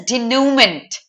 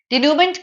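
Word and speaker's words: dénouement: You can relate it to moment.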